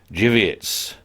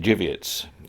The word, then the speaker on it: Żywiec: If I'm not mistaken, it starts with a T, but it's pronounced Dziwiec. And please, Polish people, correct me if I've made a mistake now, because it's been a few years.